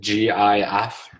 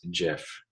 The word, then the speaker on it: GIF: know what the guy that invented the the gif just came out and said that it's not pronounce gif it's actually pronounced jiff just so you guys know all right so